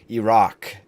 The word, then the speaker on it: Iraq: I mean, technically, just to be politically correct here, you pronounce it Iraq.